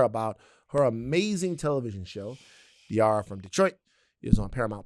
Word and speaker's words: Diarra: And and went diara. Yes. Rhymes with tiara.